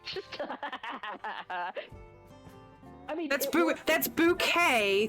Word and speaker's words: Bucket: I mean that's that's bouquet thank you not Mrs bucket bouquet it never was bouquet before I married you